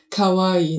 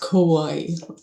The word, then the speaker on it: kawaii: Kawaii in Japanese it's something like scary, like not cute at all. She meant for sure kawaii, not ko wai.